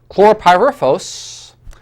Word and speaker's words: chlorpyrifos: What they discovered is this, if I pronounce this right, chlorpyrifos, I should say chlorpyrifos, was the primary cause of autism-like behaviors for pregnant women during the second trimester.